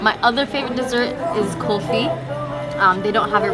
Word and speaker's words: kulfi: Is it kind of pronounced like coffee with the accent? Kulfi.